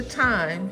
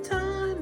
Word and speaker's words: thyme: Now take the thyme and sprinkle a little thyme on there. This is time. See what time it is. Thyme. It's thyme, not time. It's thyme, actually. You pronounce it time.